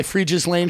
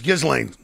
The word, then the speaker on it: Ghislaine: Yeah, I got my Freeges Lane shirt because I believe all women.